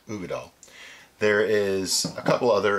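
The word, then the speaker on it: Uigeadail: It's pronounced Ugadal.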